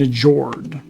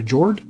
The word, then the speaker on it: Njord: You got Odin, Frigg, Thor, Freya, Sif, and Njord. I think the N is silent. So Jord, and I guess that's your scoring board.